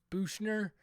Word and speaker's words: Buchner: be talking about uh Buckner uh bushner I think is how you you pronounce his name um Tyler buchner it's